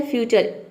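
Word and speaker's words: future: जब आप देखेंगे इसका प्रोनाउंसिएशन तो इसमें आधा र लिखा रहेगा, लेकिन आपको लिखने पे नहीं जाना है, आपको बोलना है, यानी कि एडवांस में बोलना है। आपको र को साइलेंट रखना है, आपको बोलना है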